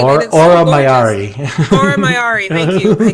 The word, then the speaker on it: Aura Mayari: Oh gosh, Aura Mara. Why can I never say her name. Aura Mayari.